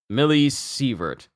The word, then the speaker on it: millisievert: Millisievert. Yeah, okay, so millisievert. Okay, it's pronounced millisievert.